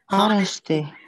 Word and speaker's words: honesty: read this allow honesty honesty so silent h silent h honesty honesty honesty Okay so